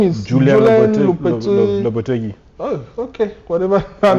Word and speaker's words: Lopetegui: How do you pronounce his name? His name is Julian Lopetegui.